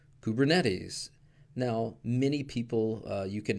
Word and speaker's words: Kubernetes: in general but again nobody pronounces it that way at least not in the kubernetes community and the founders of kubernetes pronounce it as kubernetes so just be aware